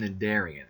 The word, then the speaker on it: Cnidarians: that I said that in Darien so that C is silent so we're gonna see